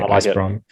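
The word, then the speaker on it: ISSprOM: What are we calling this? Ice Brom? Yeah, I think we just say Ice Brom. Ice Brom. Good. It's pronounceable.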